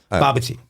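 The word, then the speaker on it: bobotie: Baba tea. Oh. It's- Sounds like tea, though. Sounds like Bobby's tea. How's it spelled? Bobby's tea. B-A-B-O, excuse me, I'm looking at phonetic. It's B-A-B-O-T-I-E, but it's pronounced Oh, well, baba that's tea.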